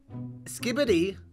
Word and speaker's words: Skibidi: Skibidi, that's how it's pronounced.